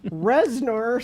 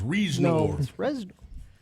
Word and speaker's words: Reznor: an industrial rock musician Reznor sounds like a made-up oh is that how you say it I always thought it was reasonable and he is 54:54